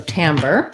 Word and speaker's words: timbre: timbre um yes okay so it is it is as i say black cat vowel and then the er sound uh so timbre good and then for